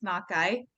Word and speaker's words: Nakai: Yeah, you said it right. It's Nakai. Just a quick, it's a common Japanese name, and we're actually Navajo family, so really good job.